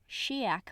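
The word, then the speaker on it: Sidheag: She made friends with, in this audiobook pronounced correctly, Shiak Macan, Sophronia Temenick, and Dimity Plumley Tainmont, Pillover's older sister. You know, it's really hard for me to say Shiak, even though it's correct, because I'm looking at it and I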